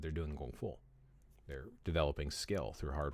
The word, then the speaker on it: Gong Fu: But he is associated with the changes that the Shaolin Temple did to start studying their Gong Fu, which Gong Fu or Kung Fu, it's pronounced Gong Fu.